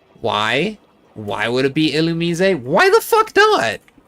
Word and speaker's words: Illumise: I can guarantee that you have at least once pronounced this Pokemon's name wrong. It's Illumise. Why? Why would it be Illumise?